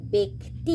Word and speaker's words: ব্যক্তি: যেমন এখানে বয় জফলা আছে কিন্তু উচ্চারণের সময় হয়ে যাবে বে, ব্যক্তি, কেননা এরপরে হর্ষই আছে, হর্ষই আছে বলে, হর্ষই ধ্বনি আছে বলে হয়ে যাবে ব্যক্তি।